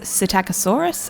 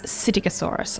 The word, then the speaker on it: Psittacosaurus: really all that straightforward it has a silent p at the start um so there are two different ways to say it that i found one is cetacosaurus and the other is cyticosaurus i actually prefer cyticosaurus but i think most